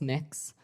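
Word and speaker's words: Mx.: Cameron, tell me what your It's pronounced mix.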